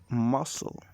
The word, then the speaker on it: muscle: word cheese and cheers however when following an s it is often silent an example of this is muscle will you do not hear the sea it does slightly change